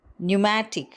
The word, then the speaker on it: pneumatic: For example, pneumonia, where p is silent, pneumatic, where p is silent.